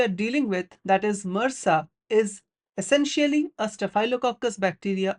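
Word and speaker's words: MRSA: is that of MSA which is often times pronounced as Mera so MSA stands for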